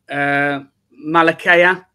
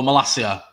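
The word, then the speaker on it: Malacia: I can't pronounce his name. Malakaya. Oh, Malasia.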